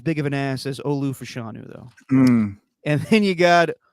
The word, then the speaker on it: Olu Fashanu: Wallace shirt Stephen but I'm saying it right Olu fashanu the Penn State left tackle that's him U